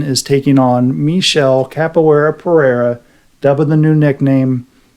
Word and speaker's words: Pereira: Alex Pereira.